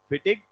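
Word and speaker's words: Fittig: एनजी ही लगाते हैं फिटिंग नहीं है फिटिंग रिएक्शन फिटिक रिएक्शन बहुत आसान रिएक्शन है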